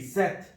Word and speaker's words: sept: sept, set, sept, set.